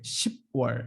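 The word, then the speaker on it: 시월: Not a 10월, okay? 10월, 10월.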